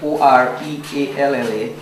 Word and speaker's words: Orealla: The name Orealla came from the word chalk. In the Amerindian dialect language, Arawak, they call chalk Auyara, which means in English spelling O-R-E-A-L-L-A, pronounced as Orealla.